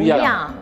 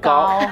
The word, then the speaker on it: 恙: 念别了，其实应该是明月无恙，你把它读成明月无高，是样跟